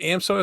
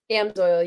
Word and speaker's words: Amsoil: And then upcoming this year, is it AMSO? Is that how you say it? Amsoil, yeah.